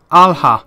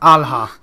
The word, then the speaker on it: Alha: Alha, that's how it's pronounced. Kat's name is pronounced Alha.